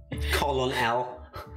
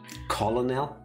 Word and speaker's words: colonel: Colonel L. He's the little known cousin of Superman, Carl L. Colonel L. It's confusing because in Dutch you do say it like that. Colonel?